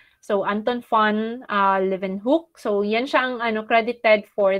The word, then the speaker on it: Leeuwenhoek: so it's not uh lumenhoop it's actually leaving me a german cassette saxon so the w is um pronounced as v okay so it's live and hook so anton fuan uh live in hook so yanchang an accredited